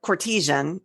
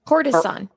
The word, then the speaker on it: courtesan: thing and the 16th century a renowned Venetian Cartesian courtesan I always pronounced it Cartesian well I've been in classes